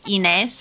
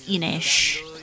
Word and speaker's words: Ines: about this game, and her name is not like Ines or however I was pronouncing it. It's Enish. Enish!